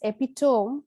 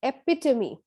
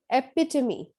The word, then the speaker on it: epitome: it's not pronounced as epitome but it's epitome epitome where the stress is on the second syllable next word is executive